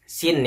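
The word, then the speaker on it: سين: Nah, sekarang saya akan membahas lagi huruf sin ya. Huruf sin bagaimana cara membacanya? Cara membacanya adalah ujung lidah ditempelkan pada gigi kita yang paling bawah ini di ujung sini.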